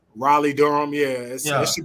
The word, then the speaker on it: Raleigh: buy and buy it because you said it's rap rally right that's the one you want to fly into how do you say it Raleigh Raleigh Durham yes yeah it should be RDU I